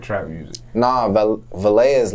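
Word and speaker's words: Valee: I mean, I've been in the studio with Valet.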